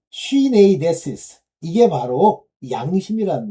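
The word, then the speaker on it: συνείδησις: 자꾸만 저는 이걸 D로 발음하는 경우가 있어요. 두 이렇게. 근데 아니에요. 요게 N자입니다. 수나이데시스. 이게 D자예요. 자, 쉬네이데시스.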